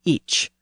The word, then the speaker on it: ic: But the first-person pronoun was actually each, with a CH sound at the end. In Old English, it was usually spelled IC.